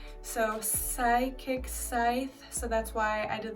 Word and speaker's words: Psythe: And it's spelt with the P because it's psychic. So psychic Psythe, so that's why I did the play on words.